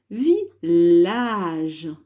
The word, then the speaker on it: village: Je ne dis pas village. Donc là, j'ai les deux L. Donc en fait, là, mon I ne sert que pour la syllabe vi, hein, ici, comme dans ville. Et les deux L font le son L, village, comme dans lapin.